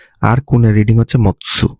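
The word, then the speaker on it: 持つ: অনের উদাহরণ হচ্ছে কি, বা অনের রিডিং হচ্ছে জি, আর কুনের রিডিং হচ্ছে মৎসু, হ্যাঁ মাতসু না মৎসু।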